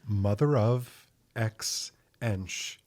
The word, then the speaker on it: Mother Of x Ensh: It's mother of Xensh. The X is silent.